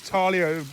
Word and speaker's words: Thalia: We've got Thalia, and these pronunciations might be different in America, but back in the UK we call these Thalia.